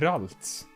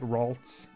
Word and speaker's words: Ralts: about yeah the pronunciation I see it Roberts but that that's a very Swedish Swedish if I'd way of pronouncing it so I guess you're supposed to say like Ralts I suppose but other Pokemon have